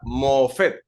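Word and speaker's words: מופת: tenemos la palabra hebrea que se pronuncia mofet como si tuviera doso mofet y Qué significa un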